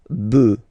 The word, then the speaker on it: bœufs: just add this S, but then pronunciation changes quite much because you get des bœufs, all right, un bœuf, des bœufs, all right.